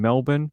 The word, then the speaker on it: Melbourne: Arrest records say that police were called to the home in Melbourne. By the way, Americans, that's how it's said, Melbourne. For an infant not breathing. It's not Melbourne. It's just Melbourne.